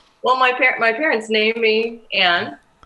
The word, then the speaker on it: Ayn: It's Ann, though. There's a big distinction there, right? It's A-Y-N, but pronounced Ann, right? Yes, or Ain.